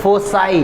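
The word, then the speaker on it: foci: फोकस का क्या होता है? फोसाई।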